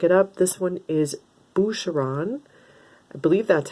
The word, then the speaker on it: Boucheron: decided to pick it up this one is boucheron i believe that's how it's pronounced this is a french perfume and i